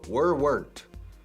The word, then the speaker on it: weren't: Escrito weren't. Pero no se pronuncia weren't, el pasado de verbo to be. I was, you were, they were. Negativo, they weren't. Weren't. Eran, no eran. Estaban, no estaban. They weren't. Una sola sílaba. Pam.